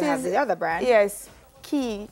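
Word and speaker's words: Quay: Yes, Key, Q-U-A-Y, spelled but pronounced Key, from Australia.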